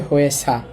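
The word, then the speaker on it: 회사: তো হয়ে, আর শয়ের সাথে আছে আ, উচ্চারণ হবে হয়ে সা, হয়ে সা।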